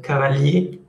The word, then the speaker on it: cavalier: Cuando ustedes hagan el femenino a partir de E, la R no se pronuncia, cavalier.